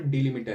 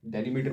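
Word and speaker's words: delimiter: इसका जो default डिलिमिटर है, इसको कुछ लोग डेलीमीटर बोलते होंगे, लेकिन ये इसको प्रोनाउंस किया जाता है डिलिमिटर।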